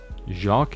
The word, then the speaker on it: Jacques: Jacques is pronounced Jacques. It's Jacques. He's like a French guy, isn't he?